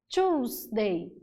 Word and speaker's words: Tuesday: Então, nota que a terça-feira eu tenho uma escrita com two E's, mas a pronúncia é com choose. Tuesday.